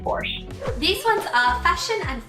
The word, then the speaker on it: Porsche: Hyundai, Porsche. I think we Brits just fell in line with the German pronunciation and just accepted that. To be honest, I do say Porsche now, but I grew up saying Porsche.